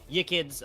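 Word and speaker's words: Yiqids: What I'm going to be looking is Yikids. I do believe I pronounced that correctly. Y-I-Q-I-D-S. Yes, Yikids, the Norwegian...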